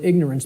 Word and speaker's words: ignorance: us, of the word ignorance, because of the way it's pronounced. I tell people, start pronouncing it ignorance. Ignorance. Then people will hear the word ignore in it, and the connotation becomes clear.